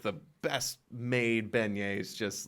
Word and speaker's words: beignet: Beignets. Beignets. Damn it, not Benghazi.